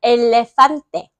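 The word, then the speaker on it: elefante: 그래서 스페인어에서는 그 영어의 pH 있죠? 영어의 ph가 f 발음이 나잖아요. 스피너는 전부 다 그거를 F로 F로 씁니다.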